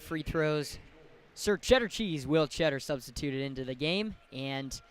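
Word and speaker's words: Tschetter: One of my favorite tidbits on the Michigan basketball website is the pronunciation for Will Cheddar is just spelled cheddar like the cheese.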